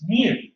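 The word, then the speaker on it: μ: population is represented by what looks to be you but it's pronounced new now we're going to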